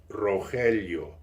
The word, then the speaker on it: Rogelio: My real name is, if you spell it, Rogelio, and it is pronounced Rogelio.